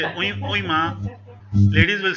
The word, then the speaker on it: oui: Uy. It's not oi. It's not oee. It's uy. Uy.